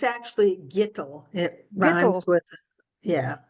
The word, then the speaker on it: Gitel: half mark it's actually G it r with yeah rhymes with little G there we go